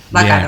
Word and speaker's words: Bacaro: ¿Es Bácaro o Bacaro? Bacaro. Bien, Bacaro.